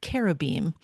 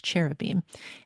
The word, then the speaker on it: cherubim: to the faces of what are called carobam or cher. We often pronounce it in English cherubim.